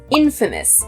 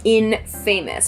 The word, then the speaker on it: infamous: the bonus word is Infamous Infamous this is also an adjective it looks like it should be pronounced in famous but the pronunciation is Infamous so Infamous is kind